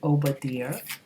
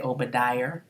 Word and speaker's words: Obadiah: So we have Obadiah. That's how I pronounce it, Obadiah. You might say Obadiah.